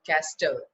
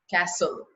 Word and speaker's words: castle: do you pronounce this we don't pronounce caster we pronounce Castle T is silent listen T is silent